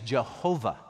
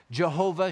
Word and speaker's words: Jehovah: into Latin and then from the Latin they pronounce them with the German pronunciation so YH wh became jhvh and we know that name as Jehovah yahovah Jehovah and so